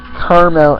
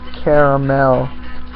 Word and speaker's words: caramel: People say caramel instead of caramel. Is that really hard to pronounce? Is it really that hard to pronounce that extra letter?